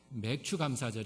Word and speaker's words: 맥추감사절: 이렇게 지내고 자 합니다 오늘은 좀 발음의 지금 쥐로 해야 될 거 같아요 오늘 제목도 처음처럼 이 아니에요 마시는 분 아시는 분 우수 신분은 예 처음처럼 이 아니라 처음 감사 그리고 맥주가 아니라 맥추감사절 입니다 가름 유의하시고요 오늘 매출 감사